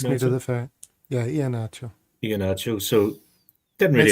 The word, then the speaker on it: Iheanacho: Big Eniacho. Fair play to him. Did really nothing during it. Did I pronounce that right?